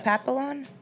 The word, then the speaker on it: Papillon: We went papillon. Yeah. Papillon. How do you say it? Papillon. Butterfly in French.